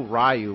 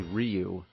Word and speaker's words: Ryu: like in Street Fighter we didn't know rayu was actually Ryu Blanca some people say